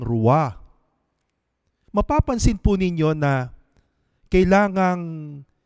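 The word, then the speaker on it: רוח: ang salitang gamit ay rua rua kung inyo pong i-pronounce ang salitang rua mapapansin po ninyo na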